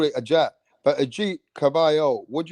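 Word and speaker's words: Agit: Is that how you pronounce his first name? Yeah, Ajit. Yeah. Yeah. I'd call it Ajat.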